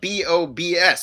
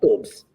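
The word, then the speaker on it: Bobs: Oh, boobs, but it's spelled B-O-B-S. So we pronounce it Bob's here. No, it's pronounced boobs.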